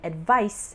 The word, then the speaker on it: advice: a z sound and advice is pronounced with a s sound she advised me to